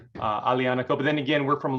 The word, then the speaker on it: Aglianico: i think it's pronounced alianico the g is silent so it's not aglianico uh alianico but then again we're